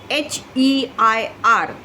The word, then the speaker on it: heir: So H is not, H is silent here.